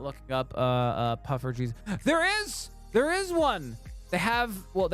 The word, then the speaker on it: poffertjes: Poffertjes. Poffertjes. Pretty straightforward. Once you know the delicious mini Dutch pancake. Poffertjes. Right? That's how you say it.